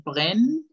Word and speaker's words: prennent: Y ya, recuerden que la E en este final no se pronuncia. Ils prennent.